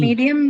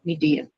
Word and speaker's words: medium: medium will also have the same thing, right? Ma'am, So only yeah. 2 syllables and sorry, 3 syllables. And since the suffix is distributed across 2, you're only left with the first syllable and you mark it on the first one. Okay, so me, first one, me is the one which carries your stress, medium.